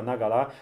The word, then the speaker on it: Naqala: A Five Tribes, az a Nagala dzsinjei, a Nagala, az a Moncalánnak a helyi kiejtése.